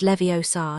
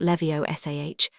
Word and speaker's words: Leviosa: It's Leviosa, not Leviosah. You do it then if you're so clever.